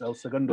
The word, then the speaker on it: El Segundo: Segundo, did I pronounce that correct? Yes, El Segundo Brewing Company.